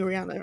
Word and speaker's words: Rhana: Rana, is it Raina or Rana? I keep forgetting how to say it, because I know it's Rihanna. But what is... You can just call me Rihanna, it's fine.